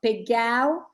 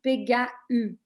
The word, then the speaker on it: Pégau: When we put the tréma, we pronounce in dialect, in Provençal, ou.